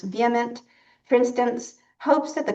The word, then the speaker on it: VHEMT: The Voluntary Human Extinction Movement, whose acronym is pronounced vehement, for instance, hopes that the current generation will live long and die out.